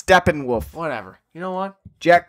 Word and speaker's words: Steppenwolf: can correct my pronunciation every time you said Stefan wolf it's Steppenwolf whatever you know what